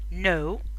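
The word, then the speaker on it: know: في حاجة تانية، إذا كانت الإن بعد الكي لا تنطق، زي نايت فارس، نو يعرف، أنا هنا ما نطقتش الكي أصلا.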